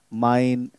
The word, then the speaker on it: mein: And the answer would be, mein Name ist Wilhelm. Mein Name. So it's mine. In English, we pronounce it like, this is mine. Same pronunciation, but the way of writing is different.